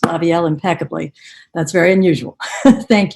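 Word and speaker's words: Lavielle: lined up to hear from are representative Gail laviel and then um following that representative Mitch bolinski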